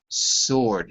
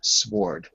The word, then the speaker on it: sword: his name is and the pronunciation is sword silent w sword sure that's right that's right all of these words have a silent w somewhere in the word ok so this case you could spell it s 0 rd and it would sound precisely the same sword not sward ok very good very